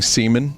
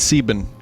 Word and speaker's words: Sieben: needs 7 now class how do you say 7 in German people saying semen in chat it's yes it's Sieben correct I know several German